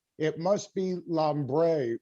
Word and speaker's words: Lambre: it is lambre. Yes, exactly. That's exactly how you say it.